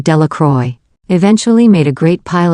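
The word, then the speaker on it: Delacroix: Jones and Dicky dequa the villagers pronounced this name delacroy eventually made a great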